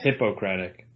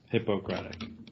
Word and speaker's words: Hippocratic: Yeah, I mean in the doctor sense, Hippocratic. Yes. Not hypocritical. You have to emphasize that third syllable. Yeah, Hippocratic.